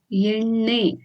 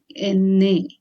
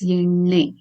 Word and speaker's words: ಎಣ್ಣೆ: Friends, here it is ಎಣ್ಣೆ, ne and not ne. Yeah? Na is different, na is different. You need to roll your tongue and then touch the upper part of your palate, and then you get the pronunciation as ಎಣ್ಣೆ. It's not enne, it's ಎಣ್ಣೆ.